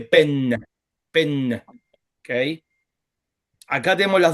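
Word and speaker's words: פֶּן: Entonces ahí no dice pev, sino dice pen.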